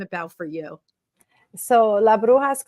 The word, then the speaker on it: Brujas: for you so la bruha club which you did say correctly behind the scenes but it's it's just like an h and actually I think